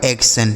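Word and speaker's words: action: आगे ए सी टी आई ओ एन। तो देखिए यहां ए और सी है तो ए सी से दोस्तों एक हो गया और टी आई ओ एन का अभी हमने आपको सिखाया सन यह लिखा गया आपका एक्शन ठीक है यानी इसे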